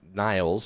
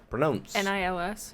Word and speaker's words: Nils: So the reason that I wanted to mention is because I saw that Niles, or Niels, I'm not sure how to pronounce his name. Pronounce? N-I-L-S. N-I-L-S.